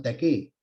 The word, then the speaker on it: taqué: rodamiento que se llama taqué. Sin T, taqué. ¿Ya? Sin T, taqué simplemente. Con acento en la E, taqué.